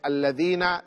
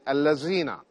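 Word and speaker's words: الذين: correct unfortunately some Muslims instead of saying alladhina they say Allah zina Almohad OB musubi this is incorrect so you have to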